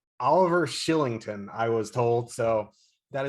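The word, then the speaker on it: Oliver Kylington: when mongiapani and i forget oh shillington it's pronounced oliver shillington i was told so that is a nice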